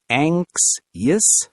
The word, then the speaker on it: anxious: Yes, some people have anxiety as a condition, but we all feel anxious sometimes, and that's normal. How do you pronounce it again? Anxious? Anxious. The X sounds like KS together.